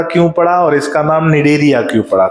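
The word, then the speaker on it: Cnidaria: और नाम भी है डेरिया सी साइलेंट बेटा सी निडे या मत बोल देना सी साइलेंट है और एन आई डी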